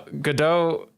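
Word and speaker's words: Godot: like saying it right but it's fine uh gdau when he takes a sip of coffee it's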